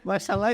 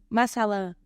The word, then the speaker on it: Mashallah: Mashallah is not Masala.